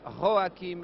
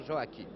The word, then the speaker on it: Joachim: Que Taffanelli, qui écorce, veuille bien m'excuser de cette prononciation un peu espagnole. Joachim Labarba et non Joachim.